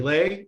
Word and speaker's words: Leigh: my name is leigh it spells l e uh but it's pronounced lei as in legendary as a legacy or legitimately your best friend in this